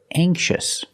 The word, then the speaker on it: anxious: it's not light and this word anxious anxious has a soft k sound it's not anxious it's a softer cake and anxious anxious anxious